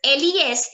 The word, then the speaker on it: les: So guys, the pronunciation of L-E-S is going to be les. Les. Les. It's a pattern. Les. L-E-S is les.